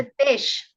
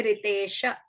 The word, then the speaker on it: Ritesh: Ritesh, we stop there. We don't say Ritesha.